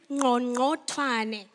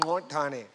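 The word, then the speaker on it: Qongqothwane: It's known as the Click song because they could not pronounce the original name. The original name is Ngongothwane. That is the name. Ngongothwane. Ngongothwane.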